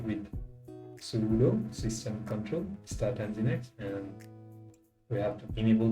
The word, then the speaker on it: Nginx: linux this will update the package list yeah engine x is actually pronounced as in the next okay that way and once the hens in x is installed we can start with sudo system control start engine x and we have to enable that as well